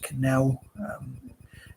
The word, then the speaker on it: Cannell: It reminds me of Canal, but I think it's pronounced Canal.